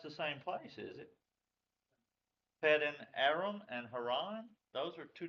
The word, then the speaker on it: Padan Aram: You had a little problem there pronouncing the Pat in there around? Padan Aram.